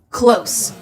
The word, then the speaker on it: close: Close, physical proximity. I'm not quite close enough to reach it. This is with an S, but if you pronounce it with the Z, close, it's the opposite of open.